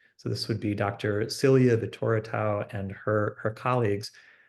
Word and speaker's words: Silia Vitoratou: Celia Vittoratu and her colleagues, excuse me, Celia Vittoratu, that is how you say her name.